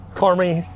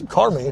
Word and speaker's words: Carmi: It's Car Me, don't you, Angel? I mean, that's that sounds sounds right at least.